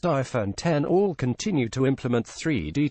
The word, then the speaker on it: iPhone X: 7 iPhone 8 and iPhone X pronounced iPhone 10 all continue to implement